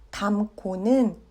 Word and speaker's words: 닮고: 닮고는 닮고로 발음합니다.